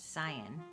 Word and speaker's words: Zion: yum fun fact apparently locals pronounce what looks like zion as zion like lion we visited the local